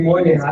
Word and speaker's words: Moynihan: Ruby, I always have problems pronouncing your Moynihan. Ruby Moynihan.